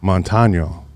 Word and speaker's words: Montaño: Montano. See, I tried to get it right. Yeah. Montano.